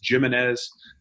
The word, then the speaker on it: Gimenez: out about it but you pronounce my name like basketball yeah that's the best